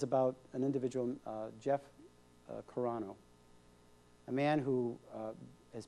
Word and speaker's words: Carano: how do you say your last name Jeff corano corano yeah well welcome to the show thank you